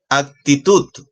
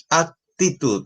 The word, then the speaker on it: actitud: porque termina en s actitud actitud tenemos ahí una dos tres sílabas y la fuerza de voz está en la última sílaba la que sería la